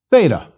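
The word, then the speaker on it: θήτα: tau the Greek T so a th sound thaw for theta is normal and common please repeat theta da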